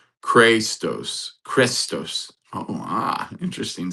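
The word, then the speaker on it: χρηστός: The word is pronounced. Christos. Oh. Ah. Interesting. Sound familiar? Christ. Christos. Pronounced Christos.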